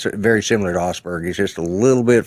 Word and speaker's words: Asperger's: My nephew's son my sister's kid has Asperger's. I think you said. Is that how it's pronounced? Yeah.